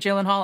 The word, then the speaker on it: Gyllenhaal: Hi, I'm Jake Gyllenhaal, and I'm hosting SNL this week with Camila Cabello. No, Gyllenhaal. Your name is pronounced Gyllenhaal.